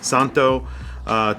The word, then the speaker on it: Szanto: we are looking at zento these are watches that are very vintage inspired you can see here the z is silent so it's pronounced santo thyme vintage style time